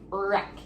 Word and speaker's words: wreck: Okay, so again, we don't say the W, we just say the R, and it's wreck.